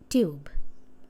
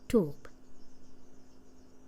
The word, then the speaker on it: tube: British pronunciation is tube, American tube.